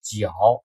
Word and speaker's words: 角: 的名字叫角啊，当然也有人读成绝啊，就是这个就是头上长的角的那个角。